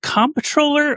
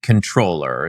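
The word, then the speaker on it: comptroller: proper pronunciation is actually controller. It's mostly like an odd French misspelling of an English word.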